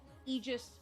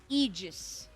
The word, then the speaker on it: Aegis: that second letter and are either pronounced iiggus or eegis. In this case it is egis. Eegis rim. Basically, you could pretend that the A doesn't exist and that the G is a J or just like the